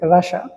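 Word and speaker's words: Russia: কিন্তু এটার সঠিক উচ্চারণ হচ্ছে রাসা।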